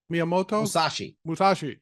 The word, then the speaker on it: Miyamoto Musashi: So Miyamoto Musashi. Thank you. And I learned something I had never heard of. Mr. Pronounce his name again? Miyamoto Musashi.